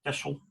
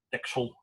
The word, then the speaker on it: Texel: I hadn't spoken to him before that, but I went to the Isle of Texel, or Texel, two pronunciations, to give him a really nice award